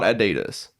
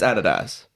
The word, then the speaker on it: adidas: pronounce the street right it's not adidas it's adidas i feel like a fair